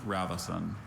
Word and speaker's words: ravison: Just the one, Ravasun. So schwa in the middle, schwa in the last syllable.